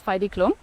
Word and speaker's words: Heidi Klum: This also includes major fashion productions, global campaigns, environments like Germany's Next Top Model with Heidi Klum. I say it like this because I always watched it back home.